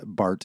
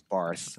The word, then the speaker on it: Barth: a lot of people is just simply that Bart is spelled with a th at the end and